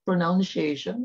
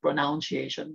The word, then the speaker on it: pronunciation: Take note, it's not pronunciation because I've seen some teachers posting on YouTube and then they keep on saying pronunciation. Guys, come on, it's not pronoun, it's pronun.